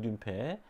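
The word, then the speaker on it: νύμφη: 그리고 이제 뜀페들, 요정이라고도 합니다만 그리스 발음으로는 뜀페.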